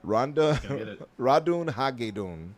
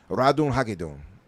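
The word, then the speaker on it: Ratonhnhaké:ton: Radun Hagedun. That's it. Radun Hagedun.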